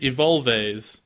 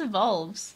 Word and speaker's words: evolves: That's evolves. That's how evolves is spelled, Jay. No, you said it like in Spanish where the E's always sound like eh, so it's Evolves.